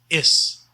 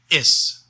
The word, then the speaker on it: is: english word is except we pronounce it is with an s sound not with a z sound like we usually do in english so is and not is and